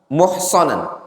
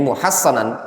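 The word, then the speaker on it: محصنا: Maka tatkala seseorang insan muhsanan atau muhassanan, muhassanan, bacanya muhassanan, dibentengi dengan surat Al-Baqarah misalnya, ya, dibentengi dengan surat Al-Baqarah.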